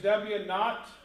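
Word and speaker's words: W₀: And now over here you have this W naught, that's how we pronounce this, we have a little zero here, W naught, e to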